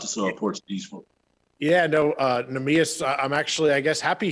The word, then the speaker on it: Neemias: Monty, the Portuguese, Neemias, I hope I'm saying this pronounced. Neemias.